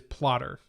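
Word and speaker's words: Plottr: using for that outline this here is plotter uh and it's that's spelled PL o TTR and it's a pretty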